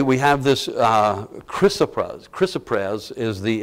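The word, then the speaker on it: chrysoprase: the it's how this I know it doesn't look like that but from all that I have learned and how the dictionary divides the word that's how it's pronounced and uh this only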